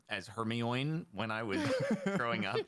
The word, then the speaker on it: Hermione: I read like heroine.